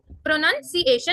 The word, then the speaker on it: pronunciation: प्रो हमने हल्का बोला, नन थोड़ा ऊपर करा, प्रोनन, सी जैसे हम देखते हैं, सी, ए जैसे हम किसी को बोलते हैं, ए शन, प्रोनाउंसिएशन, ठीक है, प्रोनाउंसिएशन।